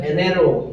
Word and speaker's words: enero: एनेरो। enero, एनेरो कहाँ है यार? होता है ही नहीं। होता है ये, जी ठीक है Enero. Enero। प्रोनाउंसिएशन खेनेरो कब होगा? जब या तो जी ई लगेगा या जे ई लगेगा।